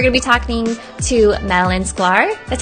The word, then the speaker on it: Madalyn Sklar: Today, we're going to be talking to Madeline Sklar. That's how you pronounce it, right?